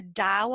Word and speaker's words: Tao: and it's the Dao of Leadership, and that's spelled Tao.